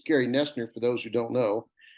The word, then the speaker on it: Noesner: yes you will because everybody says nosner that's what it looks like but it's nesters yes